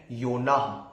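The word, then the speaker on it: יונה: ओ एन ए एच जोना और योना का इब्रानी में जो प्रोनंसिएशन है या जब हम इब्रानी में इसे बोलते हैं तो इब्रानी में है योना सेम हमारे हिंदी का जो उच्चारण है उसी प्रकार इब्रानी में भी उच्चारण है सेम प्रोनंसिएशन है योना और इब्रानी भाषा में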